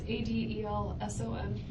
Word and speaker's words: Adelson: Okay, I, Adelson, and I gotta change It's this. Adelson. I know, I gotta change that. It's okay. It's Adelson. Actually, it's spelled right. I said it wrong. Adelson.